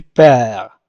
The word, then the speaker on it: perds: Tu perds. Tu perds. لا ننطق د، لا نقول tu perds، نقول tu perds.